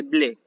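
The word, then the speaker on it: μπλε: azul y se dice blé. Blé, como ¿por qué? Porque los griegos lo toman del francés bleu, ¿sí? Que se escribe bleu, ¿sí? Se pronuncia bleu, y los griegos dijeron blé, porque los griegos no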